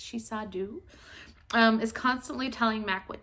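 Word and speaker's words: Sidhe-seer: The Shisadu, which I always want to pronounce as dove, but she says very plainly in her books that it's Shisadu, is constantly telling Mac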